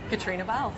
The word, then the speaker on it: Caitriona Balfe: How do you pronounce Caitriona Balfe? Caitriona Balfe.